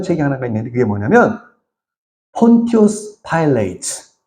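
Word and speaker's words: Pontius Pilate: 이 사람이 쓴 책 중에서 굉장히 유명한 책이 하나가 있는데 그게 뭐냐면 폰티우스 파일레이트. 이 영어로 본디오 빌라도를 폰티우스 파일레이트라고 읽어요.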